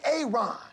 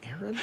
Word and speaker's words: Aaron: A Aon. Aaron. Why didn't you say it the first time I said Aon? Because it's pronounced Aaron.